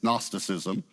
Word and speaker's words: gnosticism: from a Greek word the g is silent it's gnosticism it means knowledge a